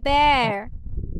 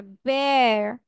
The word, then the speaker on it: bear: আচ্ছা এটাকে আমরা বিয়ার বলবো না, এটাকে উচ্চারণ করতে হবে bear. কি উচ্চারণ করতে হবে? bear. বিয়ার বলা যাবে না, বেয়ার বলা যাবে না, bear.